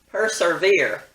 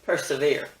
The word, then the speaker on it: persevere: see why it's mispronounced folks just think there needs to be another r sound in there so they say persevere instead of persevere i guess one good